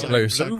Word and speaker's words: Bleu: like there's one called Bleu. Is that how I pronounce that? Sounds like French bleu.